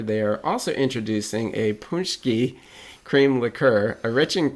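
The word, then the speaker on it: pączki: So Detroit, and I've been dreading having to say this word because the pronunciation is Polish, and I do not speak the language. So Detroit City Distillery Punschki Day Vodka and Punschki Cream Liqueur.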